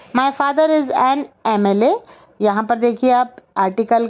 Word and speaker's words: MLA: का प्रयोग करना था, हमने एन लिखा है क्योंकि एम कॉन्सोनेंट होते हुए भी इसका साउंड देखिए आप, ए आ रहा है ए, और ए का जहाँ साउंड आता है वहाँ पर हम आर्टिकल एन लगाते हैं।